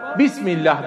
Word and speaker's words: Bismillah: Şurada bir hemze var. Arapçada bazı hemzeler, hemze-i vasıl dediklerimiz, geçiş halinde telaffuzdan düşer ama hatta yine yazılır. Dolayısıyla bu kurala göre buradaki hemzenin hatta da yazılması gerekirdi. Okunmayacak ama Bismillah diye ne yapılacak?